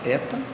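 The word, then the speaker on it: ἦτα: sua pronúncia em português letra aberta Eta que corresponde ao som e em atleta a próxima letra a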